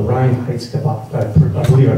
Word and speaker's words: Reinheitsgebot: Yeah, that's the purity law called the Reinheitsgebot. I believe I pronounced that correctly.